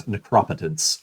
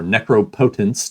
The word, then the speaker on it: Necropotence: This set gave us Necropetence or Necropotent depending on how you want to pronounce it.